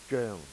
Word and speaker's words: 張: But for Cantonese, Cantonese are quite similar to what the uh, what the Chinese will speak 1,000 years ago in Tang Dynasty. It's Zheng, okay, Zheng. Japanese pronunciation, Haru Hari, Korean, Vietnamese, Phuong.